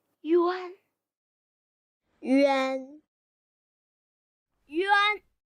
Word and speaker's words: 晕: Holistically recognized syllables do not need to be spelled; they need to be directly voiced out. 晕，晕，晕。 Yun, yun, yun.